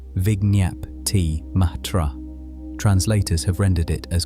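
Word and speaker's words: vijñaptimātra: The term is vig matra pronounced roughly vignyap matra.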